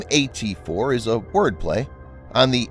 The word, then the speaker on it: AT4: the world the name at4 is a wordplay on the 84 millimeter caliber of the weapon 84 being pronounced similarly to at4 the name also doubles